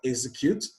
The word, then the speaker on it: execute: the second syllable and for execute the stress is on the first syllable so option c examine